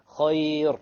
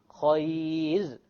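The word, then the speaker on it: خير: This is a very common mistake, by the way. Khayr. No. Khayr. Light, because there is a ya before it.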